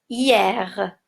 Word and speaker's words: hier: les enfants et attention hier s'écrit avec H mué et on prononce le r je ne dis pas est comme dans moner par exemple qui finit avec er mais je prononce hier passons maintenant aux exercices